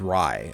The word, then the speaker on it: Reitai: It's not Ray. It's Rai. Okay, so Reitai.